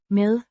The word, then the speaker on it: med: Med. Dash. Mi. As in the English word. And d is a soft d.